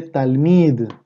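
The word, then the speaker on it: תלמיד: palabra estudiante o discípulo en el hebreo se dice tal mide tal mide y miren cómo se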